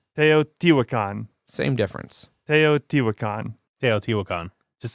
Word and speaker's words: Teotihuacan: No, I'm not gonna re-say Teotihuacan. Teotihuacan.